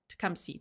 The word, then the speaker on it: Tecumseh: Tecumseh. Tecumseh. Thank you so much. Thank you for the pronunciation assistance.